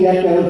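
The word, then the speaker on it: Gyetko: It's Gecko, G-Y-E-T-K-O, and I'm with New York Against Fracking.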